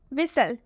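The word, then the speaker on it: whistle: विसल में आप देख सकते हैं लास्ट में टी एल ई आया है, देख सकते हैं आप, लास्ट में टी ई एन नहीं है, टी सी एच भी नहीं है, लास्ट में टी एल ई है, लेकिन इसमें भी टी साइलेंट है।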